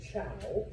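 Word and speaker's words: Zhou: Uh and yes, even though it's with a Z, it is pronounced ciao.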